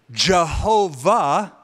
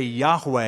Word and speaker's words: Yahweh: So Jehovah is the old pronunciation. We would say Yahweh is the more correct Hebrew translation.